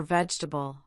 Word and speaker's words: vegetable: It can even be silent in the middle of words like in every or vegetable.